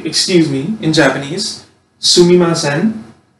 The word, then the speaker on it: sumimasen: And so, this is how you say, excuse me, in Japanese, sumimasen, right?